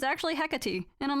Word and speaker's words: Hecate: I also did not know that was how you pronounce her name. I always thought it was like Hecate, but like, you know, I went to I